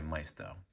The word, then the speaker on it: Maisto: In today's video, I'll be showing you and reviewing this 1/18 scale Nissan 350Z Nismo Custom made by Maisto, or Maisto, depending on how you like to pronounce their name.